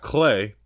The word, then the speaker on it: Cleigh: We've got Clay, but it's spelled Cleigh, which I've never seen Clay spelled that way.